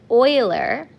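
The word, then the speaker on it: Euler: His name is pronounced oiler.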